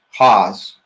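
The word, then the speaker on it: Hawes: for us uh the pronounce try to pronounce your name last name correctly Haws it's like say it correctly for us h-a-w-e-s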